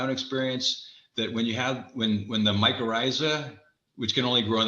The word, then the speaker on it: mycorrhiza: Mycorrhiza.